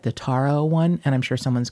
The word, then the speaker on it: taro: I'm pronouncing that wrong that's probably taro like the card but with no tea but it's ta ro and it's purple which is my favorite color but it's actually I think the taro root is kind of